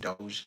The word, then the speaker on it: Doge: They mentioned Doggy Coin. I know it's pronounced Doge.